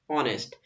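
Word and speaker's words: honest: ऑनेस्ट ठीक है ना ऑनेस्ट यहां पर देखो एच जो है इससे स्टार्टिंग नहीं हो रही भाई ये एच साइलेंट वर्ड है यहां पर तो यहां पर स्टार्टिंग हो रही है ओ वर्ड से यहां पर क्या आ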